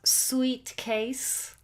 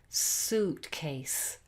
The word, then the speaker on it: suitcase: It's not sweet case. It's suitcase.